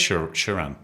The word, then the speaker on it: Sharan: It is Sharan. Sharan's very English kind of pronunciation though, isn't it?